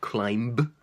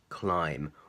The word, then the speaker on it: climb: in the letters M be for example to climb to climb it's not climb but it's climb or what's this chord if you comb your